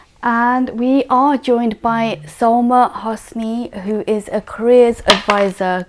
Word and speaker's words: Soulma Hosany: game what's there and we are joined by soma hosni who is a careers advisor good morning i hope i pronounced your name correctly yes you have